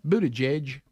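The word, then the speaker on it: Buttigieg: all the time right is it Buddha judge that's how you say it yeah we continue let's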